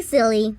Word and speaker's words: Scilly: They are, but they are spelled Scilly. The sea is silent, meaning it's well and truly silly. There's also an Isle of